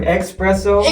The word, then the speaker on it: espresso: Hey, can I get some espresso? Exactly. That's the right way to say it.